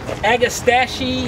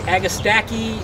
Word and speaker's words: agastache: it is technically a plant that agastachy agastacky agastache however you want to pronounce it a variety called